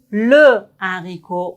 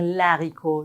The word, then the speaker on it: haricot: Mais quand on a le H aspiré, c'est comme le consonnésion, le livre, le haricot. On doit pas dire l'haricot. Non, c'est comme les consones. Le haricot.